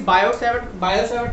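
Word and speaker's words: Biot–Savart: Now, what is Bio-Savart law? Here T is silent.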